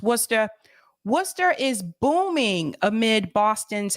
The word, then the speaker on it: Worcester: For those of you who are not from the area, it's spelled Worcester, but it's pronounced Worcester.